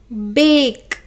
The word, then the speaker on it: bake: pronounce it like that this a will be pronounced as a long sound so how do we pronounce it and the sound of e is not pronounced because it it has already given its power to a okay so how this is pronounced bake okay let's see one